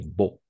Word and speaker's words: beau: fait froid il fait la combinaison de voyelles EA et U on va toujours prononcer exactement donc on va simplement prononcer il fait beau d'accord il fait beau